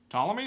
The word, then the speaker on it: Ptolemy: the second century astronomer how do you pronounce Ptolemy Ptolemy is it just silent P like pterodactyl boy and remains one